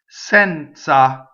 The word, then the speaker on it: senza: Senza, so Z is like TZ, the Z in pizza, open E, senza.